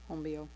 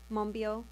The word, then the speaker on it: Monbiot: on george monbiot's book i'm probably saying his long name wrong hombio mombio okay there we go um and since then